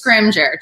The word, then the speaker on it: Scrimgeour: and I'm gonna I don't want to mispronounce your last name so give that last name to me again it's Scrimgeour Scrimgeour Scrooge's so I'm very sensitive